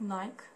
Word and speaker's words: Nike: So most of the people can pronounce it like Nike. Actually, all around the world, we pronounce it like Nike. But unfortunately, in America, it's pronounced like Nike.